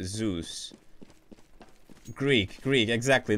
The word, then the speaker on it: Zeus: I ever get bored it's Z us like okay it's Zeus okay so there you go like this is this is pretty cool I'm learning I'm learning more about Greek gods while playing Counter Strike I got to give it to guys heads up man best community ever Zeus so that's how you pronounce it Zeus Greek Greek exactly